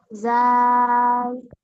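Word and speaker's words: ذال: জাল। আচ্ছা, এটা কোন জায়গা থেকে উচ্চারণ হবে বলেন দিনি? জিহ্বার আগার দুই দাঁতের আগার সাথে লাগায়।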